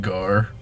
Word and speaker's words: Garret: eat G me oh I'm gar the ET is silent dang train hungar it's